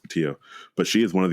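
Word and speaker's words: Pattillo: her name is Melba Patillo. I believe that's the way it's pronounced, Patillo.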